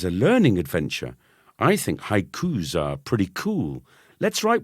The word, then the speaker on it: haiku: my cousin was saying I think you mean haiku Burnie a haiku not an H Q not invented by your